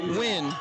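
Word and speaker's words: Nguyen: Nate win Nathan Nigen I think it's pronounced win okay win the senior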